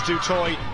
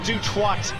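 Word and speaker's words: Du Toit: d t oi T I'm reliably informed by our expert D that it is D toy not duat as I have heard it pronounced a few times before Australia in a huddle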